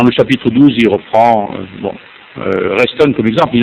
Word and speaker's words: Reston: Reston, comme ça se prononce, R-E-S-T-O-N.